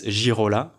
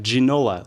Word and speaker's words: Girola: First of all, so my name is Girola, okay, which in English you could say Girola, but I know that in English you could you pronounce it G, so it's Girola, right? But now some people say Ginola, like the football player, right?